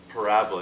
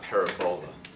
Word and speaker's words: parabola: Make sure you pronounce that correctly. It's parabola, not parabola.